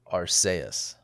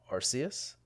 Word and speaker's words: Arceus: rob was pokemon legends arseaus right that's pronounced um arceus arceus arceus arceus pokemon